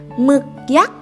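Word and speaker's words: หมึกยักษ์: Thai is pronounced as ห ม ึ ก ย ั ก ษ ์ ห ม ึ ก ย ั ก ษ ์ Okay.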